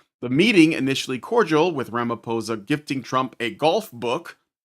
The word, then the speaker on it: Ramaphosa: Ramapo Ramiposa or Ramoposa, it looks like a ph sound, but I've heard it pronounced with a P, so I'm just going to say Ramiposa, visited the Oval Office